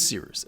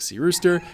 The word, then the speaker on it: Cyrus: My name is Seerooster. It's spelled like Cyrus, pronounced like Sea Rooster. Just take out the ter.